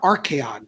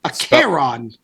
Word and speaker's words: Acheron: It's called It's not Archeon, which annoys me. It's Acheron.